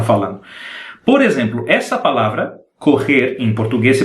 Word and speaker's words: correr: Quando nós temos 2 R's, a língua tem que golpear várias vezes o céu da boca. Então, o som é mais ou menos correr.